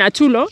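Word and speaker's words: Atxulo: Bueno, en Achulo, hemos estado Achulo, en Achulo, ¿no?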